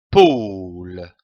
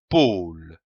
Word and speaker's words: pôle: paul le comme un pôle attention ici à l'accent circonflexe on traîne le haut un pôle le pôle nous avons vu la syllabe